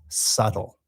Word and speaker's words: subtle: Um, and this adjective has a strange pronunciation related to how it's written. The word is subtle.